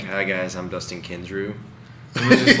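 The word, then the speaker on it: Kensrue: She actually got me into listening to Dustin Kinsrew, and which is funny And story. props for pronouncing his last name right.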